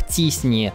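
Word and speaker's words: t-SNE: Наверное, самым популярным из них является алгоритм с таким вот названием, который является полуакронимом и произносится как TISNI, или по-русски стохастическое вложение соседей с T-распределением.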